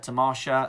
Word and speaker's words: Tamasha: I performed with Tamasha as well, another great South Asian theatre company in London. And then things started to dry up a little bit. Tamasha, it's Tamasha.